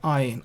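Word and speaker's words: ע: Now, these two letters are silent, as I said, aleph and ayin. Unless there is a vowel, they are silent.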